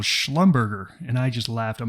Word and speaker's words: Schlumberger: us this week we're going sideways again with Schlumberger now I know some of you are saying rob that's not how you say it but that is how we say it at Maverick the real company is Schlumberger but years ago one of our new Traders